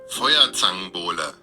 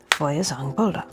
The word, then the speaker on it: Feuerzangenbowle: And before we move any further, I'm going to ask Google how I pronounce this. Feuerzangenbowle. Feuerzangenbowle.